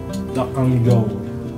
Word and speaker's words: Dakganjeong: Dakganjeong. You said it right. Dakganjeong.